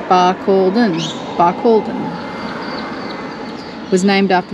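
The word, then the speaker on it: Barcaldine: how you say it we were saying balen pronounced Balon by Cen was named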